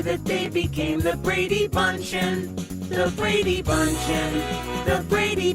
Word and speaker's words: Bündchen: Gisele Bündchen. Yeah, it's bunchen. So the song doesn't work. It's not the Brady bunchen. No, listen, I know that it's bunchen, but what?